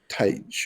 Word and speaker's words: Tij: I think it's Tig or Ty. Tij. It's spelled Tij.